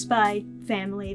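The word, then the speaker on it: SPY×FAMILY: Although it is pronounced Spy Family (without X). Say it however you want.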